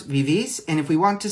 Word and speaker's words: vivís: Accent on the I with an S at the end, vosotros vivís.